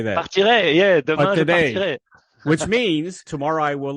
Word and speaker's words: demain je partirai: Partirai, yeah, demain je partirai.